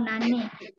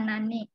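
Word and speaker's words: 何: apa namanya membiasakan ini nomor 3 dibacanya nan atau Nani di sana bisa Nani artinya apa menanyakan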